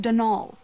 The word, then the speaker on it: Donal: caretaker daniel delaney donald mind you there's no d at the end so it's pronounced denal which is to say